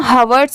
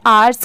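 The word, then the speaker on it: hours: एच दिया हुआ है तो इसे हम हवर्स क्यों नहीं पढ़ेंगे क्योंकि एच के तो साउंड साउंड ह से आती है। तो देखिए यहां पर भी इस वर्ड में भी लेटर एच साइलेंट है।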